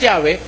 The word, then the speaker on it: Yahweh: While it is almost if not quite certain that the name was originally pronounced Yahwe, this pronunciation was not